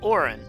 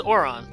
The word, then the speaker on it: Auron: Oh, it's pronounced Orin. I always thought it was Oron.